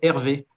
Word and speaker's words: RV: la société qui s'appelle hervé hervé ça s'écrit comme le prénom hervé et ça reprend les deux lettres de réalité virtuelle réalité virtuelle hervé c'est l'origine de notre